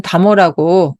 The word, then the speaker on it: 茶母: 것은 어째서인가 차차 차다 이거는 차라는 뜻인데 그 음이 다도 되고 차도 됩니다 달하고 읽어도 되고 차라고 읽어도 되는데 여기에선 다모라고 읽었습니다이 다모라는 것은 조선시대 일반